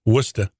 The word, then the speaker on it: Worcester: I know I'm always told not to try and pronounce things the way they do, but I'm going to do it anyway. Wora.